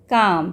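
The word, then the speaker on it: calm: सी ए एल एम काम। इसको हम कैसे प्रोनाउंस करते हैं? काम।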